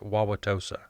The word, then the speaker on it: Wauwatosa: that town in print today that's how it's pronounced wauwatosa uh and it's a horrible place of white